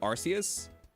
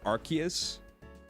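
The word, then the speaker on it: Arceus: for my entire childhood I said arus and then only found out later that like it was supposed to be pronounced archus you say arus I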